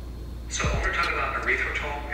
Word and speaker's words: erythritol: So when we're talking about erythritol, it's a sugar. Erythritol. Erythritol. Bro, Dr. Bird ain't never lied, bro. Erythritol. I don't really care, honestly. Come on, erythritol.